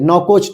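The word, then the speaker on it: Nouakchott: भी राजधानी क्या है यह नवको होती है नौ कोष ठीक है अगर हम लिखने की बात करें स्पेलिंग की तो एन ओ यू ए के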